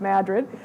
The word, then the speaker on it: Madrid: talk about this painting by Carl Raiden of Madrid coal mine in New Mexico. And yes, that's how it's pronounced. You've been to New Mexico, it's Madrid.